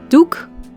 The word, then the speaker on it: doek: in Dutch nose o as in the word Duke which translates to cloth in Dutch Duke and